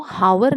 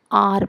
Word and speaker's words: hour: HOUR को हावर नहीं पढ़ेंगे, हम आर पढ़ेंगे। एच को साइलेंट रहने देना है, आर पढ़ेंगे, आर। तो एच का प्रोनाउंसिएशन यहाँ पे आ की तरह करेंगे, इसलिए यहाँ पे आर